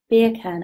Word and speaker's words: Birkin: Birkin, I should say, because I looked it up so I could pronounce it properly.